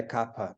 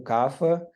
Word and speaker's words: Kapha: que as pessoas falem, o certo da pronúncia correta é Kapha, beleza, fala Kapha, fala Kapha, né? Isso faz pouca diferença, né? Então, as pessoas com predominância de capa ou cafa, eu acho mais gostoso falar cafa.